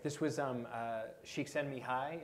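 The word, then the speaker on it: Csikszentmihalyi: This was um uh shiken Mii is that he pronounced his last name more or less um he uh psychologist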